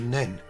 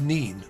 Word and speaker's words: Nene: Cruise 16 starts along the River Nen, as it's generally pronounced at Northampton, being pronounced Nene once we've passed downstream of Thrapston.